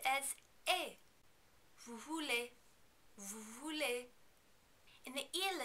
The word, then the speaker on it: vous voulez: In the vous form, you also are not going to pronounce the S at the end of vous because it's not followed by a vowel sound.